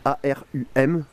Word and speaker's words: arum: Alors ça s'écrit A-R-U-M, arum.